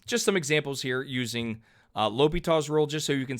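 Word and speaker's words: L'Hôpital: hopital's rule or i'm sorry i always say la hopitals i've been saying that for years and i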